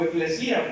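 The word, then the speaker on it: ἐκκλησία: Viene del griego eclesia o eclesía, porque tiene acento en la I.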